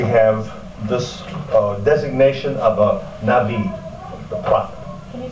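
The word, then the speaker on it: נביא: Okay, in the Old Testament, in the narrative, we have this designation of a Navi, the prophet. Can you spell that?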